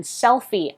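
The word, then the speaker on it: SELPHY: You turn the printer on and make sure to download the Canon Selfie app, and that is spelled S-E-L-P-H-Y.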